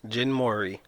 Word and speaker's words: Jin Mori: Jin Mori.